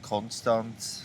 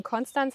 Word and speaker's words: Konstanz: Genau, also die Frage, ob es eben Konstanz heißt oder Konstanz, da beschäftigen wir uns ja mit dem ST in der Wortmitte. Wird es nun st ausgesprochen oder st? Und auf Hochdeutsch ist es eben so, dass alle ST-Laute in der Wortmitte mit diesem stimmlosen S ausgesprochen werden, also st.